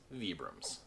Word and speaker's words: Vibram: manufacturer actually uses these souls and they are pronounced vibrams a fairly new company of the scene of